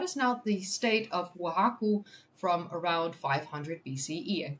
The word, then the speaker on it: Oaxaca: How to pronounce? Oaxaca. Oaxaca. Okay, Oaxaca.